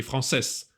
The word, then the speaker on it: français: Рекомендую обратить особое внимание на немые буквы в конце слова. Например, j'ai appris le français. S не читается, ни appris, ни français. J'apprends, DS не читается.